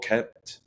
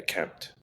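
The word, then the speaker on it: Kmet: And then I got Cole Kempment. Could be saying it wrong. I think it's just Cole. Yeah, Kempt.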